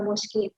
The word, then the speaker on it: mosquée: Q-U-E menjadi ke, Q-U-I menjadi dibacanya ki ya, la mosquée.